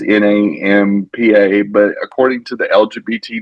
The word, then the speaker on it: Nampa: called Canyon County, in a town called Napampa. I don't know if Mhm. I'm pronouncing it right. It's Nampa, but according to the LGBT Nation News, um, they had the pride.